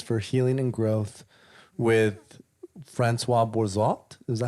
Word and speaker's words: Françoise Bourzat: medicine, indigenous wisdom, entheogens, and expanded states of consciousness for healing and growth, with Françoise Bourzat. Is that how you say it? Or am I butchering That's it? okay. Françoise Bourzat.